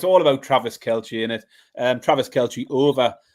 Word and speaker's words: Kelce: Sorry, Baz, I don't mean to be pedantic, but are you going with Kelce there over Kelsey? Is that your pronunciation?